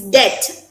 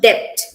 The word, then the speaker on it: debt: And it's debt instead of debt.